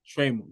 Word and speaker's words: Trammell: Trammell. All right, cool. Trammell. Latricia Trammell. Trammell. Like camel, but Trammell.